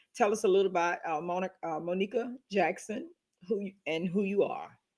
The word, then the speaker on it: Monika: It's Monica.